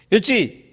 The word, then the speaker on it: yoshi: Okay, யுச்சி அப்படின்றாங்க. யுச்சி, நான் pronounce உங்களுக்கு புரியாத மாதிரி இருந்துச்சுனாலும் YOSHI, அது நீங்கள்